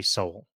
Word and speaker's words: Sewell: If you like thriller, you know that kind of Mm, stuff, it's Carrie Russell and it's Rufus Sewell or Soul, mm. might be Soul is how you pronounce it.